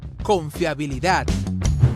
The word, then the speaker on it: confiabilidad: la buena fe confiabilidad cuando tú pronuncias con fiabilidad donde sientes que hay una mayor entonación donde está donde escuchas que haces esa esa mayor fuerza es la última así muy bien en la última sílaba decíamos que si la